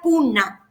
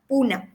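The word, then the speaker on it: Poona: en Marqui es Pune, pero eh antes de creo que del año 1990 se decía punna. Puna y se escribía p o N a puna.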